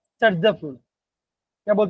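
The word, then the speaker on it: Saytzeff: जिसे हम बोलते हैं सर्जफ रूल। क्या बोलते हैं बच्चों, उसका मैं स्पेलिंग देता हूँ। उसका स्पेलिंग होता है सेड, SAYT ZEFF, इसे बोलते हैं जर्जफ रूल बोलते हैं। सर्जफ बोलो एक ही बात है।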